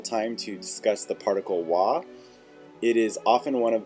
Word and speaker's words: は: careful to notice that it is actually spelled with the hiragana symbol for ha. So when you're reading, that may initially confuse you, but when used in this way, it is actually pronounced wa.